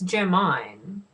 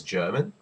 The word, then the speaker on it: Germine: how can you mix it's germine it is germine but they think it's German that's German that's German